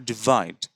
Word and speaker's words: divide: তো এইভাবে অপিনিয়ন এবং ডিভাইড আমরা উচ্চারণ করছি এভাবে, ডিভাইড। এখানে দেখুন ডি আই, এরপরে স্ট্রেস মার্ক দেওয়া আছে, এর পরের সিলেবলটা কিন্তু একটু উঁচু গলায় বা আওয়াজে বলতে হবে।